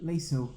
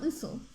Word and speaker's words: Liesel: Liesel. Liesel. There you go, Liesel.